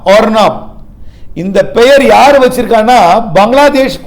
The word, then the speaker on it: Arnab: தாடுமண்டலம் அருணா பாகை அதாவது ஏஆர் என்ஏபி ஏஆர் என்ஏபி இது வந்து புயலோட பெயரு ஆனால் உச்சரிப்பு ஓஆர் என்ஏபி ஆர்னாப் ஆர்னாப் இந்த பெயர் யார் வச்சிருக்காங்கன்னா